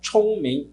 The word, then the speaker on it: 聪明: Lembrando, é ch, então, 聪明, né?